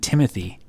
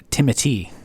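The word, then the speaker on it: Timothée: Actually, his name isn't Timothy. It's Timothy. What? Yeah, that's how they pronounce it.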